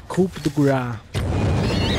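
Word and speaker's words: Coup de grâce: Tinha o cara reclamando da minha pronúncia de Coup de Grace. Eu tô falando inglês, é, profits. É Coup de Grace.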